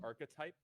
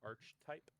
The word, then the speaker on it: archetype: look at something I'm pretty sure it's pronounced archetype not Arch type archetypes Arc I didn't